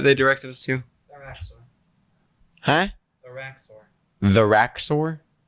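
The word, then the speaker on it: Rax'ur: The Raxor. Huh? The Raxor. The Raxor? I believe so. That is. how you say it. Raxur is not my name.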